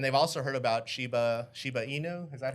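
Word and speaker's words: Shiba Inu: right guys and they've also heard about sheba shibainu is that how you say it yes in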